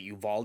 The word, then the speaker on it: Uvalde: uh what was it uvalde is how you pronounce it you've all evolved you